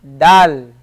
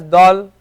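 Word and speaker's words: دال: next letter is DAL Dal so we wouldn't pronounce it as do we can't say do but Dal ahuh ra notice we didn't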